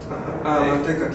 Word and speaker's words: amantecatl: Esos guiones son nota de sílaba larga. Amantecatl. Pero no de doble letra, sino solo se marca, se pronuncia marcado.